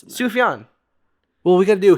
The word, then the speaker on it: Sufjan: It's Sulfan, right? Sulfan. What's his fucking name? Oh, there's a J in there. It's Sufjan.